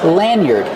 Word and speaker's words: lanyard: Lanyard. Use a short a like hand and man, lanyard. Use the sound like bird and word, yard. Lanyard.